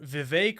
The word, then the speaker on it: Vivek: president Mike Pence entrepreneur Vivek rhymes with cake ramaswamy and Senator Tim